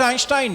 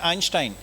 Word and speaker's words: Einstein: उसमें अगर आप स्पेलिंग उनकी देखें, EINSTEIN है। इसके आप 3 खंड दिमाग में बनाएं, EIN, ST और EIN। जो जर्मन भाषा है जिसको डॉइच बोलते हैं, उसमें एक को आइन बोलते हैं, तो वो आप ST